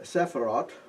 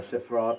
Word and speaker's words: Sephirot: So, we have 12 Sephirot, or Sephirot, the pronunciation it seems to be a little variable, and 22 letters.